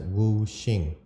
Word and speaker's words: wu xing: Well, in uh Chinese, these five elements are um pronounced as wooing. Woo means five. Shing means ongoing.